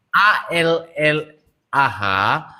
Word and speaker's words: Allah: ALLAH, maka sebagai orang Indonesia kita membacanya Allah.